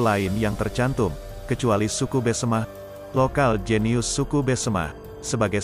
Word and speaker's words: Besemah: Nama Pasemah yang kini dikenal sebetulnya adalah lebih karena kesalahan pengucapan orang Belanda. Demikian menurut Muhammad Saman, seorang budayawan dan sesepuh Besemah. Adapun pengucapan yang benar adalah Besemah sebagaimana masih digunakan oleh penduduk yang bermukim di pagar alam suku Besemah, yang sering